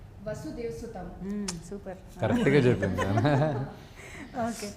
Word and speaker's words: Vasudheva Sutham: वसुदेव सुतम।